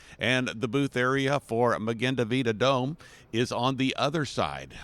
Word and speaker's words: Magen Adom: You are a paramedic with the organization, and I'm trying to get the pronunciation. Magen Adom.